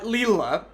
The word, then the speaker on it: Lila: enough time i'm sorry your name is spelled lila anyway uh leela uh so leela uh